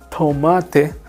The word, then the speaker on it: tomate: Spanish pronunciation okay so tomate so the tea in Spanish is very very soft te is t almost silence Tom you see Tom that's how I pronounce and Rapido so it's